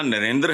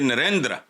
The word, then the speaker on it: नरेंद्र: लफ्ज जो है ना इसको प्रोनाउंस यह ना नरेंद्र है ना नरेंद्र है यह नरेंद्र हल्का सा बहाल दुनिया के अमीर